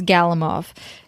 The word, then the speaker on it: Galimov: And a different Alexander, this is not how you pronounce his name. It's Galimov.